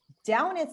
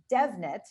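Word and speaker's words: Damhnait: And the other thing is there is a woman who spells her name the same way, but pronounces it Devnet, and Devnet Monaghan is a singer who is slightly more famous than Downeth is.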